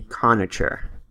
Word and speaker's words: Conacher: Conache? Anyway, Brian Conache. Alright, I looked it up. It's Brian Conacher.